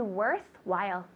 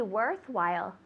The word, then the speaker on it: worthwhile: To be worthwhile. You say it's worthwhile. Worthwhile. Tell me. It's worthwhile. Good. So worthwhile. Worthwhile. Good. That H is silent.